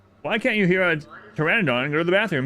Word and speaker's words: Pteranodon: can't you hear a Pteranodon and go to the bathroom because a p is silent yeah I've heard that